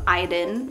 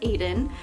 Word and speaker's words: Aiden: is very common but I really like the name iDEN or you can pronounce it Aiden but I'd like to say iDEN sadly I feel like